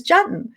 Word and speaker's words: Juetten: to say it like my last name is juttin so i'll say rhymes with button because nothing is more